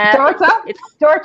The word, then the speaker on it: Dorta: Dorta? It's because we have a sound at the end. Dorta. Like daughter? Yeah. Like daughter? Dorta. More like daughter. Sort of like daughter, yeah.